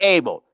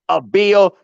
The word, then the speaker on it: Abel: point forward yeah yeah don't call me Abel call me a bill the way it's supposed to be pronounced my ninjas yeah yeah talk that the man's 30.